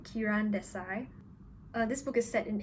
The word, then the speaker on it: Kiran Desai: inheritance of loss by karen tessie i've asked my boyfriend how to pronounce this apparently it's kiran kiran desai this book is set